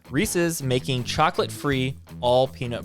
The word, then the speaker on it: Reese's: york post it says reese's and it's not pronounced reese's all of you heathens reese's making chocolate free all